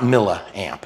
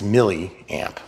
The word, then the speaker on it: milliamp: why it's milliamp hours it's not mamp it's milliamp spell it once okay